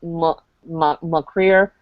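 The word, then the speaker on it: mo chridhe: like MRE my heart it looks CH r i d h something like that in the book but it's actually mcre you actually don't get the CH you get a hard C and an r and yeah well it's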